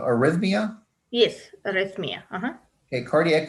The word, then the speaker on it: arrhythmia: asked how is cardiac i might be pronouncing it wrong um irethamia causing syncope detected and is it treatable um are you asking about arrhythmia yes arrest me okay